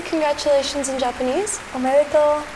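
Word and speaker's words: おめでとう: Omedetou. Omedetou.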